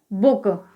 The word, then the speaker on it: book: इसी प्रकार से BOOK, यहाँ पर भी डबल O के बाद K आया है, तो यहाँ पर भी जो ऊ का उच्चारण है वो ह्रस्व स्वर यानी शॉर्ट साउंड में होगा। तो BOOK, तो इसे हम क्या पढ़ेंगे, बुक।